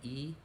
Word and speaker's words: y: in spanish dies e the word for and in spanish is just a y and it's pronounced e and then the number